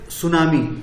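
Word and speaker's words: tsunami: major सुनामी यहां पर एस यू एन एस सुनामी पढ़ा जाता है टी साइलेंट रहता है ये चाय ये जापानी इस वर्ड है इसको सुनामी टी सुनामी नहीं पढ़ाया जाता है टीको साइलेंट रखा जाता है लेकिन टी लिखा जाता है सुनामी 26 दिसंबर 2004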